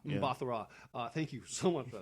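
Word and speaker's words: Mbatha-Raw: Mbathara. I know how to say her last name. Mbathara. Yeah. Mbathara.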